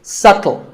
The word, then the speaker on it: subtle: It's subtle. The B is silent.